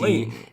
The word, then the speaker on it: Layton: Layton. If the T's in the middle of the word, you just don't enunciate it.